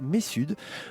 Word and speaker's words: Messud: On dit Messud, on prononce Messud. le Messud, hein, voilà, c'est bien, je voulais pas faire... Mon grand-père disait pas nord, mais sud. Pas nord, Messud. Voilà, c'est en effet une bonne entrée en matière.